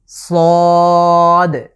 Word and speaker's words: ص: সদ, আমাদের পূর্ববর্তী যে যা এবং সিন উচ্চারণ করেছি ঠিক একই জায়গা থেকে সদ এটাকে আমরা উচ্চারণ করব। আবারও খেয়াল করুন, সদ, আমাদের জিভের আগার সামনের অংশটুকু নিচের যে দাঁতের পিঠ আছে সেটার সাথে লাগিয়ে আগার দিকে স্পর্শ করে আমরা উচ্চারণ করব, সদ।